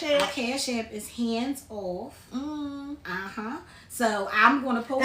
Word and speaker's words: Handzoff: the right And hands is spelled HANDZ. Z. It's not HANDS. Everybody like hands. It's HANDZOFF. Hands off. Yes. You gotta say it like this.